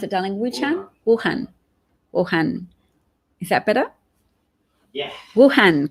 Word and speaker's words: Wuhan: The how do you pronounce it, darling? Wuhan.